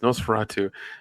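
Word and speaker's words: NOS4A2: Yeah, and NOS 4A2, pronounced Nosferatu, is the third novel by American author Joe Hill.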